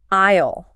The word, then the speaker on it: aisle: Aisle. Listen closely to that word, aisle. This is a very special and strange word in English.